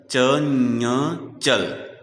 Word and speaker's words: चंचल: उसी प्रकार चंचल का उच्चारण करते समय अनुस्वार की जगह ञ का प्रयोग किया जाएगा, क्योंकि अनुस्वार के बाद आने वाले वर्ण च का पंचम वर्ण ञ है। चंचल, च ञ चल, चंचल।